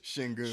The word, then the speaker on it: Şengün: How do you pronounce that? Sengun? Shingun.